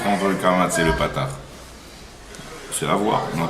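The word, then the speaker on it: פתח: en tout cas voilà dans la prononciation hashkenas on voit vraiment la différence qui a entre le kamat et le Patard c'est que le Patard c'est ouvert alors que le kamat ça veut dire fermé ça ve dire on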